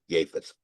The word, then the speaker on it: Japheth: Japheth, but J is spelled with the Y, pronounced with the Y. Japheth.